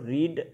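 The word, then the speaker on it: read: তাহলে এ novel is being, আর মূল verb হলো রিড, রিডের পাস্ট পার্টিসিপাল ফর্ম, উচ্চারণটা হবে রেড, বানান একই থাকবে, উচ্চারণ হবে রেড।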